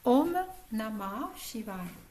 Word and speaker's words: Om Namah Shivaya: Om, O-M, plus loin Nama, je vais le dire phonétiquement, hein, N-A-M-A, plus loin Shivaya, S-H-I-V-A-Y-A, hein, si vous avez besoin d'écrire. Om Namah Shivaya. On va le prononcer de cette façon-ci.